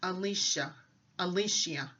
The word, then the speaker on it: Elisha: So the pronunciation of the word that they're saying online by an Israeli woman is Elisha, or Elisha.